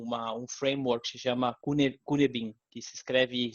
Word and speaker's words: Cynefin: que ele desenhou um framework que se chama Cynefin, que se escreve C-Y-N-E-F-I-N, Cynefin, que o que fala é um modelo,